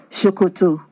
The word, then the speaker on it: Sokoto: uh Northwest of Nigeria written the same way but pronounce s-o-k-o-t-o shokuto means trouser in Yoruba language so they